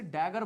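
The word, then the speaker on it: dagger: Spelling का तो पता नहीं, बट बोलते तो ऐसे ही है, डैगर।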